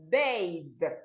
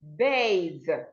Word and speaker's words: bathe: We are talking about the voiced TH sound, and it's articulated the. Words having the sound the are bathe, bathe, breathe, breathe, brother, brother, then.